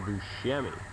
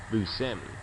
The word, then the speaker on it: Buscemi: Buscemi way back when I used to call him Buscemi but it's properly pronounced busami or so I've heard anger management we just